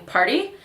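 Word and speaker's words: Paaarty: This is the Amazonian Clay 12-Hour Blush in Party. Actually, it's spelled P-A-A-A-R-T-Y, so party.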